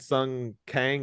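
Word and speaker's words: Sung Kang: bringing up gal I will note her and Sun Kang is that how you say his name yeah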